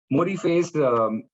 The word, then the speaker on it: ModiFace: How do you pronounce it first? Is it Modiface? Definitely.